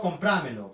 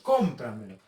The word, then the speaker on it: cómpramelo: Identificamos la sílaba tónica. Cómpramelo. No comprámelo. Cómpramelo.